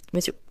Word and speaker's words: monsieur: Mais à l'oral, ça devient messieur monsieur.